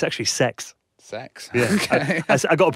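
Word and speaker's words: CeX: the other day I was in derby um cxm they've got a uh a Super Nintendo in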